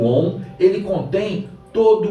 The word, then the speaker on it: Om: Coloca a língua entre os dentes, ou seja, no alto do palato, e entoe a letra divina, ou seja, entoe o Om.